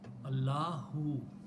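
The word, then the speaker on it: الله: If this alif is not pronounced, Allah, Allahu.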